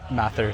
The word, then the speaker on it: Mathur: Matther.